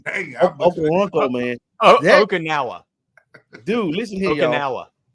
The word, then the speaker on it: Okoronkwo: Justin Okoronkwo, how you pronounce it, Ty? Ty Okoronkwo. Okoronkwo. Hey, Okoronkwo, man.